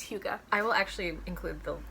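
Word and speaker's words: hygge: the cozy scandinavians like that's how it's pronounced it's spelled h-y-g-g-e but it's hugo i will actually include the video where we learned how to say it because neither of us neither of us we were like higa who could no no that's not right okay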